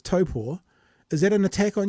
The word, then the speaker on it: Taupō: If it's not Taupo, but it's Taupō, is that an attack on you personally?